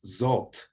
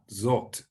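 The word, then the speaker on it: זֹאת: one a bit easier it's like english o like in the english word hot so the word for this in biblical hebrew is zot so that's how you pronounce that zot and as i go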